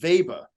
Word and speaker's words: Weber: product he knows the Weber brand no it's actually German it's pronounced Weber it's German Bob okay well I